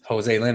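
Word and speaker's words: Joselyne: I write it down no I mean phonetically that's how you would say it Jose Lynn Edwards vers EZ I'm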